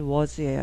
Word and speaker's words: was: was A니까 그럼 was나 was 아닌가요? 네, 이건 was예요. A가 소리가 안 나죠.